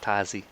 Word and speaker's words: Tasi: Her name's, that's how you pronounce it, Tazi.